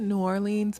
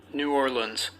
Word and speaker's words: New Orleans: here to correct myself i said new orleans multiple times um throughout this video where i've learned that it's actually pronounced like new orleans so apologies for that